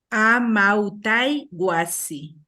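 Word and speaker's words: Amawtay Wasi: de la Universidad de la Sabiduría, de la Wantawasi, como tú decías. Yo no sé pronunciar muy bien eso, Mónica. ¿Sí? Y ella trabaja mucho las educaciones otras y la Sí, es descolonización. Amautai. ¿Cómo es? Amautai Guasi.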